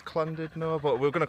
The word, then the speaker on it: Llandudno: If you're Welsh, you pronounce it. Clandidno. Correct me if I'm wrong if you're from around here. I'm not the best with it. Comment down below. I think it's Clandido, but we're going to call it Landidno.